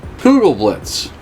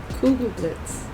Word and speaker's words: Kugelblitz: apparently no but you're you're pronouncing too much america it's too hard blitz the ghoul is